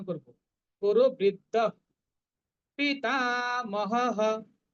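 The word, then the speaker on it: पितामहः: উচ্চারণ করব, কুরু বৃদ্ধ পিতামহঃ, টাটা দীর্ঘ, মহঃ বিসর্গের পরিবর্তে হ, পিতামহঃ, তস্য সঞ্জনয়ন হর্ষং কুরু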